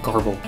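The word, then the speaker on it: Grbl: screenshot by the way I looked it up gerbal is a totally kosher pronunciation and a far more interesting name for software than garble unless you're a My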